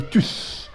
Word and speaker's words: tous: Donc هنا وبالنسبه لهنا هاد تو اللي في اس كتنطق هاد اس هادي توس كان 3 اس بالنسبه ملي كتعتبر ان برونون.